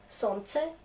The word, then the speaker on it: солнце: On a une tendance de ne pas prononcer L dans ce mot quand il a trois consonnes comme ça ensemble.